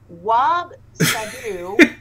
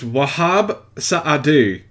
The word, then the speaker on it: Wahab Saadu: Wab Sadu. That's not his name. I No. don't try to pronounce it correctly. His name is Wahab Saadu.